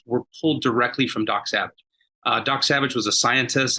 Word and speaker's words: Sauvage: And ours is called Dok Sauvage. We spell it differently. It's Dok with a K, so it's D-O-K, and it's Savage with a U-E or Sauvage.